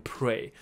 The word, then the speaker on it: prey: 所以我们就叫它 insect repellent, 所以 repellent 变成它一个名词用法。所以它可以 repel predator，那 predator 就是你的猎食者，那你就是它的猎物，所以这两个东西都把它记起来，predator 跟 prey，这两个都是会在托福雅思出现的字哈，就讲到生物学的时候，OK，predator、okay? and prey，这 prey 跟祈祷那个字发音一样，但是拼法不同。好，所以它能够生产出这个excuse me，它能够 repel predator，然后 help the